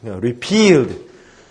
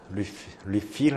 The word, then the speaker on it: repealed: Repealed. refill 아닙니다. repealed. 그지? 컵집 가서 맨날 refill 하잖아. 우리 발음이고. refill로 해주셔야지, 그때는. repeal은 폐지하다, 없애다, 이런 뜻입니다.